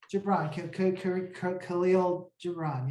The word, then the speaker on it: Khalil Gibran: Khalil Gibran, yes.